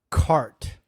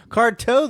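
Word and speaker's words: Carte: Apparently there's no O in the end. It's spelled with C A R T E. It's a silent e.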